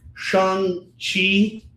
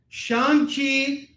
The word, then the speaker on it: Shang-Chi: It's called Shang-Chi. Shang-Chi. You know, I'm pronouncing it Shang-Chi.